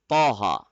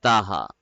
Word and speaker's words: Taha: know their Taha so the actual pronunciation of your name is poha actually but normally people say it like Taha so we are used to Taha but the actual name